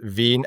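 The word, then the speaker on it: Wien: Vin. Absolutely correct. And you pronounced Vin absolutely correctly.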